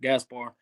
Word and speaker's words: Gaspard: you say your name and I was like Gaspar and he's like how how do I say